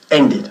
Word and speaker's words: ended: El verbo to end, por cierto, como acaba en D, pues, aunque sea regular, hemos de pronunciar la ed al final. It had already ended. Y pronunciamos como si fuese id, y latina D.